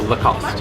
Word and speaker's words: Lacoste: me what the right around the shop oh the cost the cost so no II don't like lost